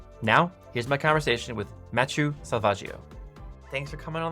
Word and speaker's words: Matthieu: That would be Matthieu.